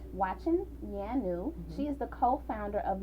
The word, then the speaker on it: Nyanue: your last name watching yanu so the first end is silent watching yanu she is the co-founder